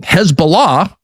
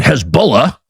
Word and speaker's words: Hezbollah: Hezbollah, or as it is often known uh on American television, Hezbollah, kind of the Kiev of pronunciations, people who know what they're talking about call them Hezbollah.